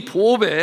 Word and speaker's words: 보배: 하면 보배라고 하는 것인데 여러분이 보배 한자로 보면 보배로 보자에 조개 자를 사용해요 그러니까 보패가 되는데 그렇게 써놓고 어떻게 읽어요 보배라고 읽어요 발음하기 쉽게 그렇게 읽습니다 여러분이 보배라고 하는 것은